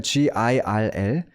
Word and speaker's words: girl: G-I-R-L 저거를 있는 그대로 발음하잖아요. 그러면 원어민도 이렇게 발음 안 해요. 근데 이래야 됩니다. girl, girl 이렇게 발음해야 돼요. 그러니까 gir까지는 R이고 girl 할 때 이 L 소리까지 나서 해서 걸, 소녀, 걸, 그 걸이 아니라 girl, girl, girl 이렇게까지 발음을 해야 되고 실제로 저는 이걸 엄청 연습했어요.